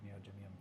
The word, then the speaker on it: neodymium: So the reason that for the longest time, yeah, that's how I've always heard neodymium pronounced.